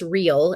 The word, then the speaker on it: Real: he is phenomenal uh his name is Terence real and it's spelled like real like the real every Rel